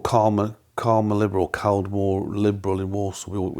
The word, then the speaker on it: Caldmore: What happened next was my dad and I joined a club called Calmer Liberal, Caldmore Liberal in Walsall. It's spelled Caldmore, but everybody called it Calmer.